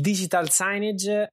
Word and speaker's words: digital signage: il digital signage sì allora il dolo pronuncio all'inglese perché dopo anni di esperienza sul mercato italiano l'ho sentito veramente pronunciare in mille modi diversi il digital science è a tutti gli